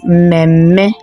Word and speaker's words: mmemme: That is mmemme. So the first m is vowel, then at the middle the first m too is vowel, then the second m, both at the beginning and at the end, are the consonant.